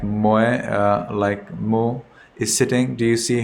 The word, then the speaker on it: Moe: Check Moe, M-O-E, Mo. Proper pronunciation is Mo.